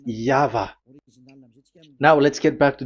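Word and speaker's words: Yahweh: that is the phonms the pronunciation pronunciation is equal V. It is V. Y H VH. So it is Yava.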